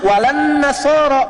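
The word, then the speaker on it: ولا النصارى: Cuman kita bacanya pakai eh kan alif lamnya syamsiyah tuh ya. Lamnya masuk ke nun. Walan nasara. Padahal itu tulisannya la wala annasara.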